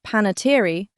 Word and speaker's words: Panettiere: And, her surname, pronounced Panettiere, became a tiny pop culture footnote all its own.